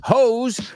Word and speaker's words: hose: Hose rhymes with foes and froze and close.